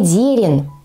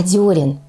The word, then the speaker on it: дёрен: произносить это слово Однако многие не знают что гласное в первом слоге этого слова не е А ё Ну а когда в слове есть гласно ё Она всегда Ударная поэтому запомнить это достаточно просто не дерен не дерн А дёрен всё просто следующее